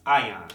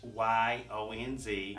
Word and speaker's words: Ions: It's spelled phonetically. It's Okay. AHYONZ. All right. But basically it's IONS. And it stands for small electric particles.